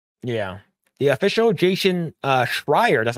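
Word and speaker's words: Schreier: followed the handbook yeah the official Jason uh shrier that's how you say it about the failure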